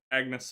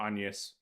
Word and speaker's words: Agnes: is the Genesis that Agnes has been collecting, or Agnes. They changed the pronunciation between games. Agnes is the way it would be pronounced in Italian or modern ecclesiastical Latin.